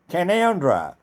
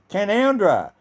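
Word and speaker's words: Canowindra: have a town called kanawindra which is also pronounced as conundra so if you've worked in the word Cano Windra and you wrote a spell it also pronounce it as canandra and recently it has been under flood water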